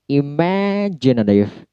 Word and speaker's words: imaginative: Kemudian imaginative. Imaginative. Me-nya yang di stress.